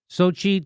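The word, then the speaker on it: Xochitl: Lucy McBeth of Georgia and Deb Haaland and Sochi Torres Small of New Mexico.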